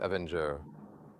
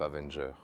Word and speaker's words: Avenger: J'ai également appris que pour le mot Avenger, la lettre R se prononce différemment en anglais britannique et en anglais américain.